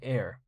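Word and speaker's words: Aer: So this right here is a backpack, and the brand is called Air. Could you see that? Or can you see that, I should say? It's spelled A-E-R.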